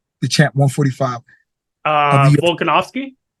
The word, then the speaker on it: Volkanovski: The champ 145 of the Volkanovski Volkanovski, yes.